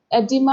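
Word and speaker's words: oedema: Next क्या है, एडिमा। ये ओ साइलेंट है, एडिमा होगा उसका।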